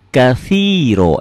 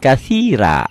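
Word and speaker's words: كثيرا: silakan dengan tulisan latin Tapi tolong bunyinya disesuaikan bunyinya jadi Allah jangan Allahu akbar jangan Allah ada w-nya seakan-akan Allahu akbar kabiro walhamduillahi katiro jangan katira jangan ya k whanallahi whanallahi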